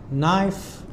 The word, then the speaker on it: knife: Both of these have a silent letter K and G. And so they both make the sound H. So for example we have here n e n i kn knife n i night n